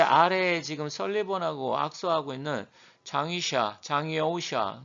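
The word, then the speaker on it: 张又侠: 그런데 아래에 지금 설리번하고 악수하고 있는 장이오샤, 이제 중국 발음은 장여우샤죠.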